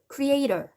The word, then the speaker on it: creator: 여기 원래 강세가 가는 건 아니에요. creator 이렇게 중간에 강세가 가야 되는 게 정상이긴 한데 인간과 창조자를 구별 지어서 말해주고 싶을 때 강조를 이렇게 합니다. creator 이렇게.